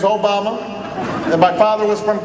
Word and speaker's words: Obama: Although people wouldn't say it right. And they'd call me Alabama, or they'd call me Yo Mama, and I'd have to explain, no, the name's Obama.